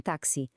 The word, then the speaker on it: táxi: Às vezes soa como um X, por exemplo, em caixa, outras vezes soa como CS, como em táxi.